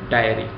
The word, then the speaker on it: diary: भी कर सकते हैं प्रोनंसिएशन दोनों की काफी सेपरेट है इस वर्ड की है डेरी और इस वर्ड की है डायरी ऑलराइट इस वीडियो में इतना